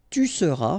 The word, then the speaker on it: tu seras: Je serai, tu seras, final S not pronounced, il sera, elle sera,